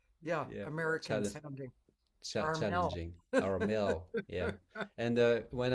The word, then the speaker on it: Armel: You Anyway, know, when you're called Armel and you are in the US and someone asks your name and you say Armel and they say what? So you have to Armel, to spell it or to say it the English way.